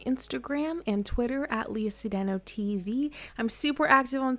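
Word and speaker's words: Cedeño: It's pronounced Cedeno, but they don't let me put the tilde.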